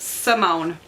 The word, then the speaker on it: Simone: Sundown multi-mode tell by Simone st. James I have had to think God because I have been pronouncing this name wrong I don't know why I've been saying Simon there's an e back there one day I